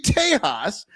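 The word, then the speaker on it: Tejas: And if you are talking about tiles and you say Tahas, it is spelled T E J A S.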